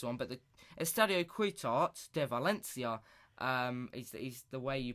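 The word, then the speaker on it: Ciutat de València: but it study a quit art de Valencia he's the way you pronounce it it's the way you pronounce it in in Spanish in dispensed London know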